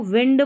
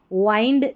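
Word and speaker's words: wind: A strong, इसको विंड पढ़ना है, जो हवा रहती है ना उसको विंड बोलते हैं, वाइंड नहीं पढ़ना है, विंड।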